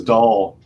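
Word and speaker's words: Dahl: because his name is doll hl i think it's just pronounced doll yeah but it's spelled kind of like dolly yeah d-a-h-l so it almost as he described it it almost sounds like dull so and uh you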